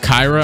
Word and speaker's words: Kira: I believe Kira Lewis, his name is actually pronounced Kyra. I don't care, though. It's just gonna be Kira.